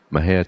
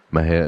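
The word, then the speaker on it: Mexia: send to M&J audio theater 923 East Maine Maha Texas Maha is spelled me x a our ZIP is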